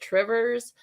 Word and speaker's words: Two Rivers: There's a town next to us called Two Rivers. Everyone calls it Trivers.